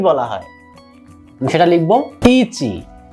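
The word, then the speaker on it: いち: এটাকে যদি আমরা রোমাজিতে লিখি, ইংরেজি জাপানিদের যে ইংরেজিটা সেটাকে বলা হচ্ছে রোমাজি, আমরা রোমাজি লিখব ইচি। আমাদের এটা উচ্চারণের সুবিধার জন্য ইচি। আপনাদের আরো সুবিধার জন্য আমি পাশে লিখে দিলাম বাংলায় এই উচ্চারণটা কেমন হবে, ইচি।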